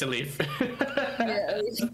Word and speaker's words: Elif: eye out on um elif if that's if i'm pronouncing her name right yeah that's pretty good it's a leaf e-l-i-f it's funny because she